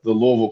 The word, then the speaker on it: Louisville: Right, Louisville. You're getting there, Tony, with the Louisville pronunciation.